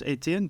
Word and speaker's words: Ettiene: My name is, of course, Ettiene. The H is silent.